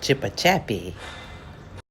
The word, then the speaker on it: Chipichape: It's actually pronounced Chipichape.